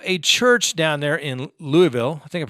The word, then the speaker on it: Louisville: And so a church down there in Louisville, I think I pronounced that right, Louisville. See, we have a Louisville here in Colorado, but I think it's Louisville, like Louisville Slugger.